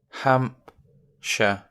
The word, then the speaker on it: Hampshire: Hampshire. Hampshire. Hampshire. Hampshire, near London. Now, we've got two parts. It's a bit like Yorkshire. Hampshire. Hampshire. Same. Hampshire. So the sh part is spelt the same as Yorkshire.